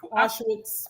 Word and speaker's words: Auschwitz: How do you pronounce it? Auschwitz.